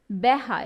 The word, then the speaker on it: বেহা: Sorry, বেহা, এটা উচ্চারণ হবে বেহা, আর প্রমিত রূপ হবে বাঁকা, ঠিক আছে?